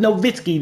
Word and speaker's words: Nowitzki: the building dirk nowitzki how you pronounce with novitskiy the w sounds like a v no bitsky is in